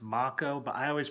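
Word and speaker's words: Mako: blinking pipe that's got them I know it's pronounced Mach o but I always pronounced it make o it was kinda like the the actor and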